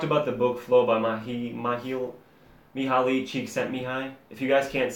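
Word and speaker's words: Mihály Csíkszentmihályi: So we talked about the book Flow by Mihaly Csikszentmihalyi. If you guys can't say his name, it's Mihaly Csikszentmihalyi.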